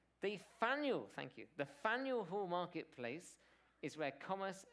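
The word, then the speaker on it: Faneuil: The Fen Hall marketplace is Faniel. It rhymes with Daniel. Should have known that. Daniel Faniel. There we go. Okay. The Faniel. Thank you. The Faniel Hall marketplace is where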